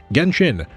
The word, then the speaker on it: Genshin: The name Genchin itself is a specifically Japanese pronunciation of the game's Chinese name, Renin, meaning original god. Genshin renin.